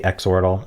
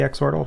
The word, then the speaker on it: Xordle: also be called the Xordle. It's probably more appropriately called the Xordle, but I think Xordle just rolls off the tongue better. And the creator has said either is an acceptable pronunciation.